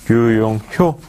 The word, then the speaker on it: 류용효: 지금까지 D1의 류용효, 예, 제가 호라고 잘못 발음한 것 같습니다. 류용효 상무님과 스마트 제조와 PLM 관련된 말씀을 나눠봤습니다.